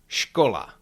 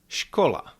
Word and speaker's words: škola: S with hatch is pronounced sh like in the English words shu or cash. Repeat after me. Skola. Shola.